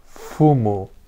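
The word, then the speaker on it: 踏む: "FUMU." Chữ Kanji đọc là FU và có nghĩa là bước đi.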